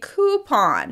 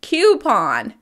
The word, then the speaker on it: coupon: As it turns out, the correct pronunciation is probably coupon because it comes from French. Even though we don't pronounce it the way it would be in French, we say coupon.